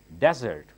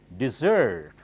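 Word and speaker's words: dessert: difficult look at that many people say desert that's wrong this is a sweet dish sweet dish it's called desert desert suppose you eat a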